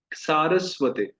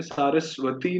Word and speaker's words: सारस्वते: सारस्वते, तो ये सरस्वती नहीं है, सारस्वती नहीं है, ये है सारस्वते। कहिए सारस्वते। हम प्राय इसको सरस्वती, सारस्वती कई उच्चारण कर देते हैं, पर है सारस्वते।